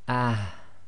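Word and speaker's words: ه: ha and the Hamza so the soft ha will be pronounced as ah ah so you have to try and bring the half from the bottom of your throat so again it's ah so not too heavy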